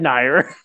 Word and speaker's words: NieR: She totally said Nier. Yep, I'm not the only ones. Fuck you guys. That's the correct way to say it.